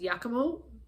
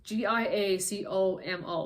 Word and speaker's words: Giacomo: husband I think it's mispronounced yakomo it's a g-i-a-c-o-m-o so I guess if you literally it could be it could be said as Giacomo Giacomo but I think it might be yakimo but anyway he's found